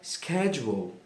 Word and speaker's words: schedule: Muitas pessoas falam de forma errada, porém tem duas formas de ser falada. A forma americana é schedule.